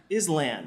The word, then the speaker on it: island: Well, maybe you could just drop the S, you know? Just island. Island. I like it. Cool. No S then. No, keep the S. Just don't pronounce it.